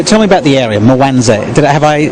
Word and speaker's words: Mwanza: So tell me about the area, Mwanza. Have I pronounced it correctly? Mwanza, well done, mate.